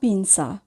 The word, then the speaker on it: pinza: এখানে পিনসা বানানটির দিকে যদি খেয়াল করি তাহলে দেখবেন যে সবার শেষে আছে জেড এ অর্থাৎ জেতা আ। এখানে জেটের উচ্চারণ সায়ের মতো উচ্চারণ হয়েছে অর্থাৎ দন্ত শয়ের মতো উচ্চারণ হয়েছে। তো এখানে আমরা জেডটাকে জায়ের মতো করে উচ্চারণ করব না, আমরা দন্ত শয়ের মতো উচ্চারণ করব। আমরা উচ্চারণ করব পিনসা।